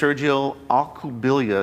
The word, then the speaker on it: Sergio Alcubilla: And he's running against Sergio Alcubilla is how it's pronounced.